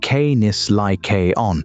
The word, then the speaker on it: Canis lycaon: The northern road ran through Ontario, and up there in the forests around Algonquin, the coyotes met eastern wolves, Canis lycaon, pronounced Canis lycaon.